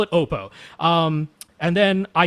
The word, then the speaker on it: Oppo: And when they answered the phone, they answered it Oppo. So I said, okay, they're Oppo. That's where I came from. But I wanted to check because I've seen lots of people say Oppo, including, at conferences or, like Tyle Hertzen when he went and checked out their PM1 and PM2 and PM3 headphones, and he called them Oppo, and they didn't correct him.